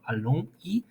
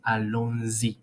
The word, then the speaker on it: allons-y: We're going to have, instead of allons I, we're going to pronounce allons-y.